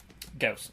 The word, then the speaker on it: Gauss: Gauss. It always rhymes with house.